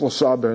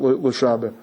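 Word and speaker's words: לשבר: No, it's pronounced l'saber, not l'shaber.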